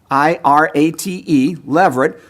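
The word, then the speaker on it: levirate: codified in the law of Moses and it is spelled out in Deuteronomy 25. so the word leverage l-e-v-i-r-a-t-e Leverett comes from a Latin term that means husband's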